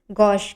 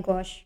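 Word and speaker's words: gauche: इसके spelling ji ए यू सी एच ई होता है। इसको प्रोनाउंस गॉस करते हैं। गॉस यह होता है सोशली ऑकवर्ड सिचुएशन एंबरेसिंग और ऑकवर्ड सिचुएशन।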